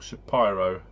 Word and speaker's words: Shapiro: The people on Score the Podcast tell me it should be pronounced Theodore Shapiro.